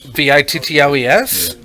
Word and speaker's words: victuals: Vittles. So it doesn't the help. phonetic But way. it spells it phonetically, but the actual spelling of the word vittle is Victual.